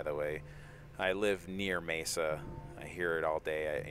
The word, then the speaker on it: Mesa: nice steel reaper yeah that's mesa not mess up by the way i live near mesa i hear it all